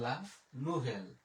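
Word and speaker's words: la nouvelle: ভ, আর ও দোজেল ও হচ্ছে এল, তাহলে লা নুভেল, লা নুভেল। এরপরে এল আ, এল আ, লা, আ এর উচ্চারণ আমরা জানি এখানে একার, তাহলে হয়ে গেল ভে।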